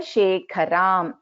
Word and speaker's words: Shekharam: So for example, Taranayaka Shekharam. So here Kha is a Mahaprana.